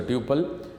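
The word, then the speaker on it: tuple: Record is also called टपल, कोई इसको टपल pronounce करता है, कोई इसको ट्यूपल इन रिलेशन डेटाबेस।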